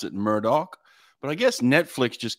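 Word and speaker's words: Murdaugh: spelled like that murder but they could they pronounce it Murdoch but I guess Netflix just came out with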